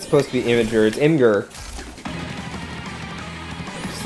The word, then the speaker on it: Imgur: nice you know what the official answer is what imager yeah he's wrong it's imgur I don't call it